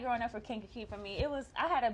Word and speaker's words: Kankakee: So, well, first of all, we know you are from, I hope I say it right, Kankakee. Yes, Kankakee. You said right.